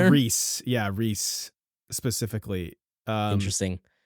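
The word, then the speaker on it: Rhys: oh is is is Reese Reese I it's Reese yeah Reese specifically um interesting anyway I have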